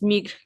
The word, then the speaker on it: migrent: When we're going to conjugate verbs, if you see ENT, don't pronounce it. So just migre.